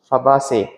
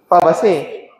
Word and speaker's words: Fabaceae: So how do you pronounce this family if you are talking to an Italian friend? What's the name of this family? Fabaceae. That's your American friend.